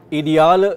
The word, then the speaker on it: ideal: Reiten ist für mich der ideale Sport. Der ideale Sport. Ideal? Ideal. Ideal. Same spelling, but pronounced ideal.